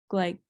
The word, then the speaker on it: glycosylase: nucleotide, and this is catalyzed by uracil DNA glycosylase. How do you pronounce it?